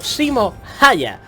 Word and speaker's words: Simo Häyhä: man, a finn soldier Called Simo Häyhä I think it's pronounced like that Simo, was a boy